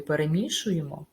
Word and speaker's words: перемішуємо: звичайно і винятки скажімо в слові перемішуємо наголос буде падати на звук І тож поставте відео на